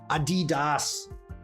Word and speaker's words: Adidas: DMC sporting the Adidas Adidas did you know that's the correct pronunciation Adidas General you